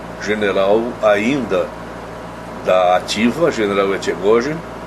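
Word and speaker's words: Etchegoyen: Como também agora li um outro artigo do general ainda da ativa, general Echegóien. Bom, Echegóien é a pronúncia argentina, Echegóien, provavelmente, que a respeito do seu próprio pai também, que foi incluído nessa lista de torturadores.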